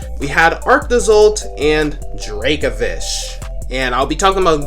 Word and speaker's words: Dracovish: episode while only arctiso in dracovish yes it's pronounced the dracovish not dracovish as a lot of people say it's dracovish same thing with draco's old it's pronounced dracazolt